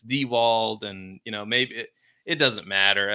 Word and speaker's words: Diewold: Some people say Diewald, some people say Dieworld, but it's Dewald, and maybe it doesn't matter.